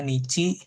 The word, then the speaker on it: 日: Bisa dibacanya hi, bisa dibacanya nici gitu ya.